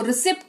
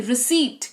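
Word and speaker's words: receipt: रिसीप्ट पढ़ते हैं इसको रिसिप्ट नहीं रिसीप्ट क्या पढ़ेंगे सीट क्यों लॉजिक वही है पी के बाद टी लगा हुआ है जिसकी वजह से पी जो है वो साइलेंट रोल अदा कर रहा है यहां पर लिखा तो जाएगा पर पढ़ा नहीं जाएगा रिसीप्ट नहीं रिसीप्ट पढ़ेंगे जिसका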